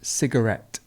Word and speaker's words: cigarette: it's chronic pain and cigarette cigarette cigarette so we've got the schwa in the middle circuit circuit circuit and